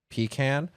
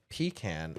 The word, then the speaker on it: pecan: One time I got corrected on my pronunciation of pecan and because I called it pecan and they said pecan it's pecan and in my head